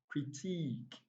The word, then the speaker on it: critique: close to the answer critique like i said letters if you're paying attention to the letters you get confused because letter hi here has this sound and letter e a also has these sound so don't pay attention